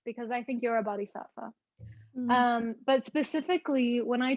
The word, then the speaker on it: Bodhisattva: And that brings me back to, I don't know how to pronounce it exactly, but the Bodhisattva, Oh, Bodhisattva?